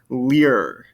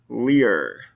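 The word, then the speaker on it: lire: And then this one, because it ends in that RE, I can pronounce that R. I'm supposed to pronounce that R sound. Lear. Lear.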